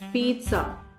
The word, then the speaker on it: pizza: wrongly it's not pizza it's not pizza it's Pizza it has a sound of T to it it is called pizza right so next time